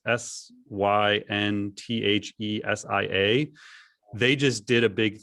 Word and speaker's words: Synthesia: It's Synthesia.